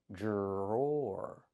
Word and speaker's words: drawer: Then we have the or sound like more indoor. drawer drawer These are drawers.